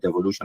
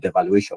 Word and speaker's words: devolution: now, devolution or whatever, even though they don't know how to pronounce the word devolution, they call it devaluation or whatever nonsense.